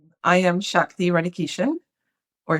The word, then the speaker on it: Shakti Radhakishun: I am Shakti Radhakishun. Or Shakti Radhakishun, as some people pronounce it, which is how it's usually pronounced.